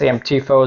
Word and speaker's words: AMTIFO: unboxing of the amtifo I think it's amtifo is the way you pronounce it it's a RV backup